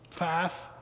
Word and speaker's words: Pfaff: It's House Bill 1005, and the 2 nays of the individuals we sent to local legislators was, I always say her name wrong, Tanya Pfaff, P-F-A-F-F, and Matt Pierce.